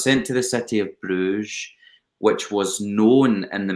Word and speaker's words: Bruges: i get sent to bruges by the way the way that we pronounce that and flemishes and dutches believe it or not and i can't believe i just said bruise i'm horrified with myself